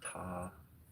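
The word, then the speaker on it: Ptah: Most people I pronounce his name as Ta. There's a P in there like beta. Um, some would rather that be silent.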